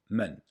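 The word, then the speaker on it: 们: hao the pronunciation of men is very easy it is a neutral tone in mandarin chinese man is used with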